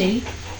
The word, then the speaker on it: the: যেমন আমরা যদি 2-3টা উদাহরণ দিই তাহলে আমরা বুঝতে পারবো। যেমন দি ইন্ড, দি এগ, ইটিসি। এরপরে যদি কনসোনেন্টের আগে বসে তখন তার উচ্চারণ হয় দা এর মতো।